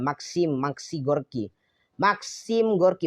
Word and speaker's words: Maxim Gorky: laut komunis yang bernama Maxim Gorky. Gimana sih ini bacanya? Mungkin KM Maxim Gorky ya. Maxim Gorky bukan Maksiat ya, Maxim Gorky.